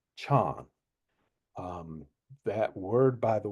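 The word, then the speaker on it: 禪: In China the word Zen is pronounced Chan.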